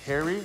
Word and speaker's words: Pherry: It's actually pronounced Harry, Taylor Harry. The P is silent.